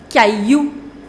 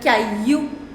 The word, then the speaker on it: caillou: Next, le caillou. Le caillou. Now, it is not pronounced, double L is not pronounced in French.